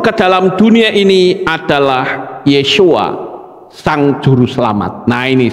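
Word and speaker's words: ישוע: Nama Sang Pencipta saat dia turun ke dalam dunia ini adalah Yeshua, Sang Juru Selamat. Nah ini saudara lihat, Yod, Shin, Wa, Ayin. Ini membacanya Yeshua, kepalanya 7.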